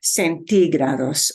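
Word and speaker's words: centígrados: able to see that it has an accent mark But centigrados punches a syllable you don't expect centigrados okay see uh Bueno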